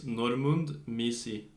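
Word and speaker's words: Normunds Miezis: Their names ends with a S and also ends... Their first name ends with a S and also their last name ends with an S. And these letters you don't pronounce. So his name is Normund Misi.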